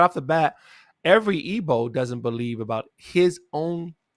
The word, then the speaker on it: Igbo: that please so the ebo um and it's it's often spelled with the G sometimes it's not with the IBO but it's pronounced ebo they they are a